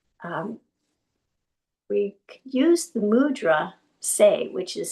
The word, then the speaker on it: Tse: So for this morning's meditation um we use the mudra say which is spelled TSE but pronounced say.